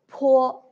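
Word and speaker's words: 泼: Po. Also, when you pronounce po, you should use both of your lips also. But there is a strong airflow.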